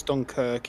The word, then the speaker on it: Dunkirk: You're right, it is Dunkirk. It's spelt weird in the football team name. Oh, okay. So it's based in Dunkirk, spelled Dunkirk, but then the team spelling name is Dunkerque. Dunkirk.